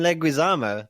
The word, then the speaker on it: Leguizamo: pronounce his name properly John leuo oh John leguisamo that John Leguizamo that sounds much better so they take it